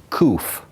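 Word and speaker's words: קוף: The first one they speak of is kuf. You do the same thing, kuf.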